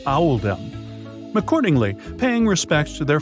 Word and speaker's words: Oldham: was made to reflect the pronunciation of Oldham in the local accent which is Owl them accordingly paying respects to